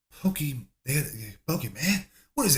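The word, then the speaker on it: Pokémon: No, it's Pokemon. Pokemon. Pokemon. Pokemon. Okay. Pokemon. Pokemon. They They couldn't pronounce it because Look at that sun coming right in my head, dude.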